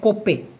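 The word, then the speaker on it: kopek: যেমন মালয়েশিয়ান ভাষায় কোপে একটা একটা জায়গায় এটা একটু খেয়াল করে দেখুন তো যারা ক্লান্তানে থাকেন বা ত্রেঙ্গানোতে থাকেন তারা এই ব্যাপারটা জানতে পারবেন। দেখুন কে ও পি কে উচ্চারণটা হচ্ছে কোপে। কোপে।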